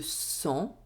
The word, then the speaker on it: sang: As final letter of a word, the letter G is not pronounced. For example, c'est long. Le sang.